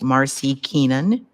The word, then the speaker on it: Marci Kenon: our guest is let me make sure I'm pronouncing your name right Marcy Kenan right all right yes ma'am uh Marcy let